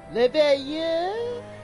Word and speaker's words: Leveilleur: Leveilleur? That's how you say it.